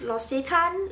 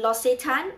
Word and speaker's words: L'Occitane: did i buy in Las a time or let's just assume that the correct spelling the correct pronunciation is lost a time okay so what did